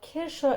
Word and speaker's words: Kirsche: Fun fact, cherries are also called Kirsche in German, but with a very minuscule difference, which non-natives usually cannot hear in the conversation or get usually confused with.